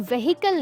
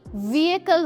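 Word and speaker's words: vehicle: Please याद रखना, इसकी प्रोनाउंसिएशन व्हीकल नहीं व्हीकल होती है।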